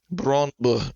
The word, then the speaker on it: Brøndby: So he was at Brøndby. Brøndby is how the Danish say it.